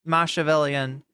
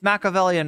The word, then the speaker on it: Machiavellian: Machiavellian is what she she just pronounced it Machiavellian, but it's Machiavellian is what she was trying to say.